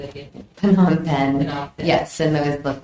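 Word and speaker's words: Phnom Penh: I'm sorry how do you say that again Pon pen yes and those look like they're boarding passes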